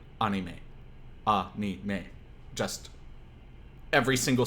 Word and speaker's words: anime: You wouldn't say anime because anime puts the stress on the a at the beginning of it. You would say anime.